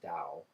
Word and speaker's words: Tao: Lao Tzu was the originator of what we call Taoism, sometimes pronounced Tao with a D, but I sometimes like to pronounce it Tao, so I might drop between the two, but he would have said exactly what John said.